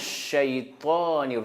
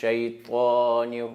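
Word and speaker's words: شيطان: A'udhu billahi minash shaytanir rajim. Shaytan. C'est pas shaytan. Shaytan, c'est faux. Parce que c'est pas Ta ici, c'est Ta.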